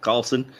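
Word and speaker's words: Karlsen: It's pronounced Synnöve Carlson, apparently.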